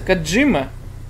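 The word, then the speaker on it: 小島: Вообще, наверное, правильно читается Кодзима. По транскрипции врать не буду, но как-то привыкли все называть его Кодзимой.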